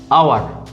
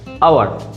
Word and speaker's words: hour: এরকম আরেকটা ওয়ার্ড হচ্ছে আওয়ার, HOUR, আওয়ার। এটা মানে হচ্ছে ঘন্টা, 1 আওয়ার 2 আওয়ার মানে 1 ঘন্টা 2 ঘন্টা সময়ের ক্ষেত্রে। এটার আগেও বসে অ্যান, কারণ এর উচ্চারণটা আসছে আ।